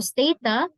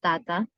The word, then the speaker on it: Stata: So Stata, this is the pronunciation. This is based on Wikipedia. Stata, or occasionally or alternative um, um, pronunciation is Tata.